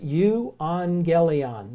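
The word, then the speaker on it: εὐαγγέλιον: I need to but any time you have to gammas together like that they're not pronounced as jeez they're pronounced as ng so that you go you on gayley on is the word so if you see two gammas together it's not a G sound it's an ng sound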